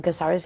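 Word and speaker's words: Cáceres: In Caceres, yeah.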